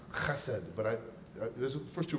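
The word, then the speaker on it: חסד: The word for unfailing love is a Hebrew word, hesed. Actually, it's pronounced chesed, but there's the first two rows are empty, so it's safe to say that here.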